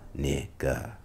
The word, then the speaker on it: Kniggas: The correct pronunciation was revealed to be Kniggas.